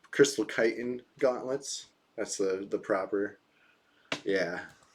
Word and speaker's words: chitin: Apparently it's crystal chitin gauntlets. That's the proper. Yeah. But I thought I've been saying chitlin. This is a chitlin shell shield, not a chitin shell shield.